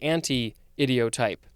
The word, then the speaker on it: anti-idiotype: Next and last word for this episode is anti-idiotype, or actually anti-idiotype. There is a hyphen.